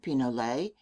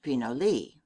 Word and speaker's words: pinole: In Mexico it is known as pinole, Spanish pronunciation pinole, English pinole.